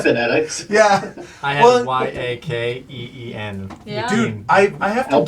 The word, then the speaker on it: Yeqiin: Yeah, I had Well- YAKEEN.